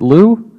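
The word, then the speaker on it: Lieu: pronounce his name properly is it Lou yes yeah very good Mr Lou from California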